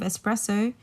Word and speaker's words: espresso: when you think of espresso think something that's being pressed so it's it literally means pressed so when you're thinking about espresso like take out the X and just remember it's